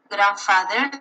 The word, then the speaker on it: grandfather: When you have, for example, grandfather, you have grandfather. You don't have grandfather. No, you have grandfather. Stepmother.